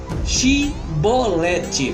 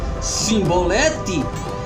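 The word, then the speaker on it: shibboleth: veja só chevrolete agora quem não pronunciasse a palavra de forma é que pronunciar a palavra de forma errada no caso cebolete era preso e consequentemente morto então a palavra era chave shiboleth tocando na tela para você chibolete e não se boleto e muitos disseram Sim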